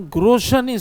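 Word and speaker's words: Grotian: The second school is known as a Groshan school. Groshan is spelled as Grotin.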